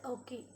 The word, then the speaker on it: Ouchi: You should pronounce it as Ockey.